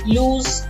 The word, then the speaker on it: lose: unable to find something the three forms are lose lost and lost now remember it's pronounced as lose with a s sound loose